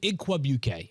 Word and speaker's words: Igwebuike: Yeah, Godwin Igwebuike is the pronunciation there, who yesterday also had 28 snaps.